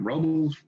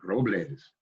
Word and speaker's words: Robles: We were never Robles, we weren't Robles anymore. My name wasn't Robles, it's Robles. We started, you know, pronouncing our names with that accent.